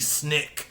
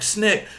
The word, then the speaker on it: SNCC: often abbreviated as SNCC Snick is how that's often pronounced I think and a lot